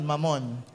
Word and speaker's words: Mammon: Hindi, mabilis lang ang bigkas nun, Mammon.